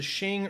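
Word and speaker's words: Qing: you get into uh it's either the shing or the queen and it's it's spelled q-i-n-g but the problem is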